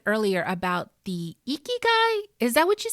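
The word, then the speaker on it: ikigai: back to something you said earlier about the eeky guy is that what you said how do you spell that i k i g a i what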